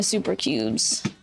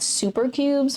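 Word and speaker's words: Souper Cubes: Let me see if I got my super cubes.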